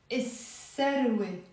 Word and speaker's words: السروة: ما بنلفظ اللام. بنقول السروة.